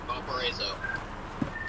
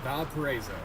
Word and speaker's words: Valparaiso: Valparaiso. Valparaiso. Alright, I'm gonna say that 10 times in my head. Valparaiso.